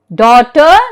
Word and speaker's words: daughter: What rule is followed for G in daughter, night and thought? Come on, who will tell me? Yes, very good. Yes, you're so attentive. G is silent when GH is usually after the vowel sound, after.